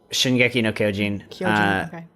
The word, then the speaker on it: Shingeki no Kyojin: Shingeki no Kyojin.